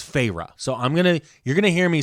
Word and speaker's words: Feyre: And like the main character, who we are finally told's name is Feyre, spelled Feyre. Like fairy? Feyre. But they like... make a big deal in it to even pronounce it for you.